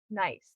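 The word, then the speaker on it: gneiss: Um And then the core structure, so the the heart of the range is exposed Precambrian granite and nice.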